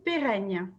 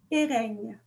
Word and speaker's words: Péreigne: Donc, alors moi c'est Péreigne. Péreigne. Exactement.